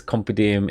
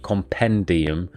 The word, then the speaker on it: compendium: it wrong says uh he still says compedim instead of compendium all right say i say the word compodium instead of compendium so basically miss out the n um i i mispronounced